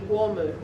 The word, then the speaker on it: Kooma: Call it Kooma, but the proper pronunciation is Wormu.